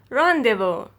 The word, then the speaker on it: rendezvous: word is less if you're less if you're rendezvous less if you're rendezvous the correct pronunciation of these words is lesser fear less